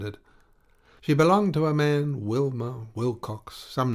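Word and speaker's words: Mahon: white long beard and his name was marn but he insisted that it should be pronounced man he was well connected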